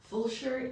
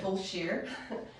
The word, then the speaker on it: Fulshear: What is Fulshear, by the way? Fulshear is a... Am I pronouncing correctly? You are. Okay. Fulshear.